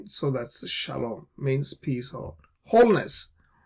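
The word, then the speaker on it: שלום: Now there are those who oppose the Tiberian vowel system and they have invented for themselves new kind of pronunciations like shalavam right there is no shalavam.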